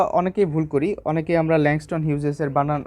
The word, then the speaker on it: Langston Hughes: তো এটার বানানটা আমরা অনেকেই ভুল করি, অনেকেই আমরা ল্যাংস্টন হিউজেসের উচ্চারণটা আমরা এইভাবে করি যে ল্যাংটন হাগিস।